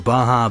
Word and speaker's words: Baja: is that on shelves guys pronounce it that way it's Baja please I would like I